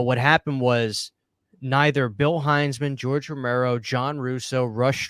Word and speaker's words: Heinzman: to be, the Bill Heinzman. I was saying a guy's name wrong. I was saying Hinsman, but his name's pronounced Heinzman.